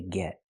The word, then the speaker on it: get: We say get. Get in line. We hear the pronunciation of T change to a fast D because it's between vowels. Not get in line, but get in line.